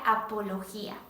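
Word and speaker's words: ἀπολογία: viene de un término griego que eh se pronuncia apología Y qué era la apología la apología aquella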